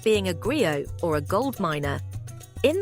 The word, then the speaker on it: griot: They don't have TVs, so they listen to the griot, pronounced gri-o.